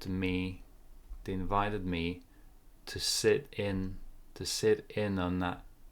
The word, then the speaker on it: sit in: to sit in uh we put more stress on the second syllable on the preposition sit in sit in they invited